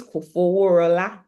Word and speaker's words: Kofoworola: to what Olushiri said, it's not really easy to pronounce because some people call me Kofoworola. Go. I've heard different variations, and in fact, I hear that I don't even pronounce it well, like in interesting. the Yoruba way of pronouncing the name, but for all intents and purposes, we'll take the pronunciation that I'm giving tonight.